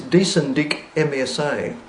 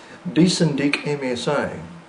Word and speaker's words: dsndicmsa: Anyway, his name is dsndicmsa. That's how it's pronounced to make it easy for you. MSA is as in Malaysia Singapore Airlines. Do you remember them? dsndicmsa.